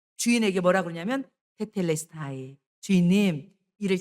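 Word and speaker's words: τετέλεσται: 여러분 이거는요 헬라오로 뭐냐면 테텔레스타이 한번 따라해 보세요. 테텔레스타이 조금 어렵죠 발음이 테텔레스타이 바로 헬라어로 예수님께서 마지막 다 이루었다.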